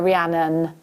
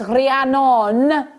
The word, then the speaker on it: Rhiannon: to say it properly because my friend's welsh and her daughter's called rihannon and she doesn't like it if you call her rhiannon she's like it's rihannon not none hi julie jenny i